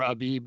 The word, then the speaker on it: Abib: It's Aviv or Abib, depending on how you like to pronounce it.